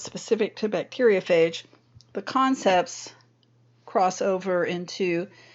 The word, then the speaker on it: bacteriophage: phage would be let me get a pen bacteriophage spelled like this b a c t e r